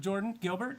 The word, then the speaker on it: Jordyn Gilbert: All right, here we are with Jordyn Gilbert. How you doing, man? Good, how are you guys? Good, and I pronounced her name right? Yeah, it's just spelled janky, that's all.